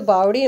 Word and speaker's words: बावड़ी: ठीक है, वैसे तो बावड़ी बोला जाता है, लेकिन कुछ लोग उसका बावली प्रोनाउंसिएशन कर देते हैं।